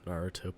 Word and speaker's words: Naruto: already gonna say something it's naruto please what did i say naruto oh i have a